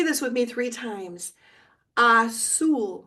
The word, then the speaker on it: azul: Azul. Remember the Z is an S sound.